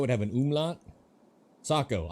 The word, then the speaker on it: Sako: Saco. I am right. I'm saying it right. Most Americans say Seyiko. I'm just a sophisticated American. I've been saying Sako from the jump.